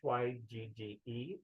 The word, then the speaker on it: hygge: I always pronounce it incorrectly, but it's Hyggge, which means warm and cozy, inviting and safe.